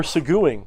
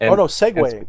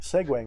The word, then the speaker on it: segueing: We're seguing, right? Segueing. Segueing is the right way to say it.